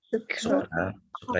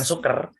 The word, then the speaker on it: sucre: Sucre itu gula. Ya. Sucre itu gula. Bukan suker, tapi sucre ya.